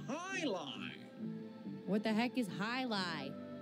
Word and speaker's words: Jai-Alai: What the heck is Jai-Alai? It's pronounced High-Lie.